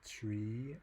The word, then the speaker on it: trie: It's spelled T-R-I-E. So you can try to pronounce it tree as in retrieval, or try as in to make it more distinctive from tree, the normal binary tree.